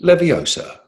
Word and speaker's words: Leviosa: Was it A, Ingorgio, B, Aguamenti, C, Lumos, D, Wingardium Leviosa? Excellent pronunciation of Leviosa there.